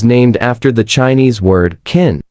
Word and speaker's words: Qin: China is named after the Chinese word kin. It is written as Q I N but pronounced asqin.qin was the name of an old dynasty which ruled China 2,000 years ago and unified China.